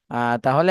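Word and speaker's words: ت: জিহ্বার আগা উপরের দাঁতের সাথে লেগে। হ্যাঁ, উপরে দুই দাঁতের আগার সাথে লাগবে, ঠিক আছে?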